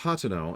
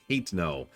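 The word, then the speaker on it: Hateno: hat to no Village which is definitely pronounced hoto and not ha no even though every time I see that my mind automatically and instantly translates ha no it's a small village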